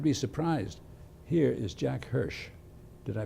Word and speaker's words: Hirsh: Here is Jack Hirsh. Did I pronounce it right?